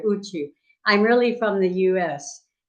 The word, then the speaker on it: Outjo: I don't know how to say it either, but it's usually Uchu, as most people say here, Uchu.